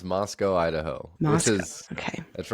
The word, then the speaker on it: Moscow: Imagine like the W got ejected out of the game and it was just left with the CO, like a company. Okay. Moscow.